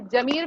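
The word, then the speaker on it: ज़मीर: अभी जमीर में कहाँ लगेगा? के नीचे। तो इसका उच्चारण क्या हो जाएगा?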